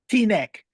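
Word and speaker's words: Teaneck: How do you pronounce that? T-neck.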